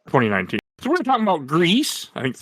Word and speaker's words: Gris: I think it's just Gris. Agree. You know, I think that is actually right. Yeah, I mean, French, the Spanish pronunciation.